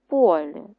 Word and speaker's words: полі: школі на о наголос а комбайн працює в полі теж на о ми лікуємось в лікарні